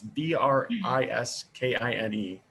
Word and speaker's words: Briskine: It's called, I believe it's pronounced Briskine or Briskine. It's Briskine.